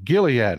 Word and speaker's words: Gilead: come in here depressed is the G A J or a g sound hard G Gilead okay thank you that's